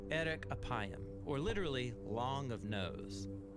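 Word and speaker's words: ארך אפים: in Hebrew the phrase slow to anger is pronounced Eric aayam or literally long of nose but what does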